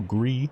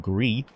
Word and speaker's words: Gris: visuals piqued my interest the title greed spell gr is but pronounced grief is the French word for grey because color you see